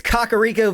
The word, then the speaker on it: Kakariko: It's Kakariko Village. See? I've always pronounced it right. It's cock, not cack.